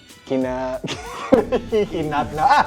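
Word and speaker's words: kinahinatnan: I'm not even gonna try to pronounce it because I think I'm try. gonna. Kinahinatna.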